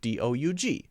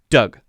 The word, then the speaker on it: Doug: the rules don't work, and a vowel sound that is two letters together may just make a simple vowel sound, in the case of D-O-U-G, which is just pronounced Doug.